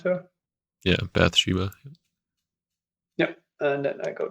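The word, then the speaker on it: Bathsheba: Bata Biba or how do you pronounce her? Yeah, Bath Sheba.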